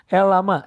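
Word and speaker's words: LLaMA: Terus ada Mistral, ada LLMA, LL gimana bacanya ini? Elama. Nah, ini punya Meta, itu open source ya.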